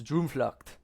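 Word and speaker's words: Droomvlucht: Like there's this ride there called Dreamflight, but it's spel in Dutch, so it's Dreamfllock.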